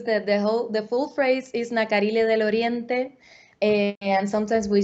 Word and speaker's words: Nacarile: Nacarile, is that how you say it, or say the name for us and tell us more about it? Yeah, Nacarile, you said it perfectly.